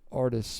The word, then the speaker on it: Artis: I am Artis, by the way. That's how you pronounce that last name.